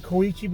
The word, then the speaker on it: Koichi: Anyway, his name was I'm going to pronounce it Koichi because I've seen a lot of animes.